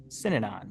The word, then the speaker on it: Synanon: It was described or the Synanon. How do you say it? Synanon.